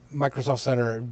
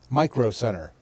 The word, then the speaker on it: Micro Center: Well, Microsoft Center, June said it wrong. Micro Center.